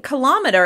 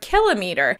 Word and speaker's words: kilometer: I've been saying kilometer and I thought that was the correct pronunciation until I did a little research. So you should be pronouncing the word kilometer, and that's going to